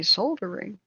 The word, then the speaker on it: soldering: iron wood burning and in England they say soldering you know I don't think you're supposed to pronounce the L um it's quite dangerous